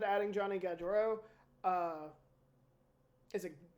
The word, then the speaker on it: Gaudreau: Columbus, interesting team, like you said, adding Johnny Gaudreau. Is it Gaudreau? Sure. No idea. I mean, it's spelled Gau and then Drew, but I always thought it was I have a Gaudreau.